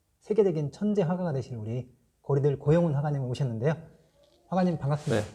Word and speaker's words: 고리들: 그래서 코어 리들 하면은 고리들하고 코어 리들하고 거의 발음이 비슷하더라고요.